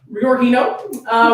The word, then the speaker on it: rhiorhino: This is by rhiorhino, which is, of course, the correct and proper way to say the name.